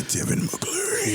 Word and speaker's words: Tevin Mccleary: You gotta say his name like Tevin Mccleary.